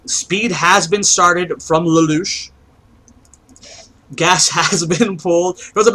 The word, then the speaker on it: Lalush: Lou is it that's that how I say Louch Louch okay I will say it I'll say